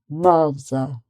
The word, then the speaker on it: mother: But in British English, you get mother, mother, mother. So the stress is on the first syllable, and then it's just mother. Or you could have brother, sister, father, like that. So the R is not pronounced in sort of RP British English.